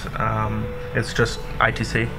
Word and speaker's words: I2C: It's just I2C, I squared C, however you want to pronounce it.